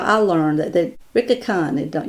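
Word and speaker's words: Licca-chan: how i learned that ricky khan don't you don't pronounce the l and when i saw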